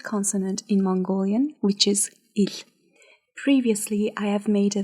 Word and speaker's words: Л: Today we are going to learn how to pronounce the most difficult consonant in Mongolian, which is il.